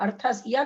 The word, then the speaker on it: अर्थस्य: हाँ अर्थस या का उच्चारण पूरा होना चाहिए ना बाद में जो ये।